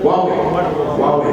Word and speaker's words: Huawei: I don't know how to pronounce it. Huawei.